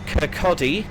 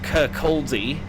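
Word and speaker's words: Kirkcaldy: Next up, Kcotti, not Kaldi as some people might pronounce it, in 7.2 miles.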